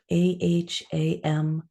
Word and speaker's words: aham: it's a two-part Mantra the first word is aham ah a m pronounced aham the second word is